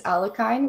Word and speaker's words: Alekhine: uh his name correctly i think the english way is alakine which i sometimes say too but i feel like a fake russian when i do that so i'm gonna go